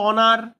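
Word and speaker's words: honour: থেকে এখানে ও থেকে অনার দেখো এইস এর উচ্চারণ নেই তাহলে এই ও ভাওয়েল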